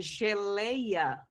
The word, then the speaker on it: geleia: Quando eu te eu olho pra palavra geleia, eu consigo verificar que a sílaba mais forte é o lei.